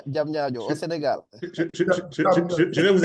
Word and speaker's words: Diamniadio: Tu as le data center qui a été mis en place à Damandio. Damandio, j'arriverai à le prononcer correctement. Diamniadio, au Sénégal. Je vais vous aider, Fabrice. Diam Nia Dio.